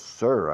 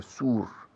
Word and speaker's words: sir: Yes, sir, I want to survive. Of course I want to survive. Sir. Escrito sur en español, pero no se pronuncia sur. Se pronuncia sir. Igual que cir, de círculo.